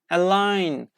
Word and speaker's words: align: The letter G is not pronounced when it is followed by N at the end of a syllable.